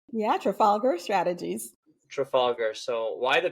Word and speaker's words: Trafalgar: your own strategy firm and sorry if I mispronounced this tra traf Trafalgar does that sound right yeah Trafalgar strategies Trafalgar so why the pivot and what